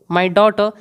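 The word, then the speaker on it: daughter: माई डॉटर, इसमें आने वाला आर क्या है? साइलेंट है, इसीलिए मैं इसको डॉटर नहीं पढ़ रहा, आर की साउंड नहीं प्रोड्यूस कर रहा मैं।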